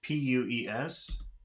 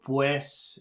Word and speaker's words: pues: duel dual number eight when in the proximity of another vowel the Spanish u sounds very much like the English w listen to the right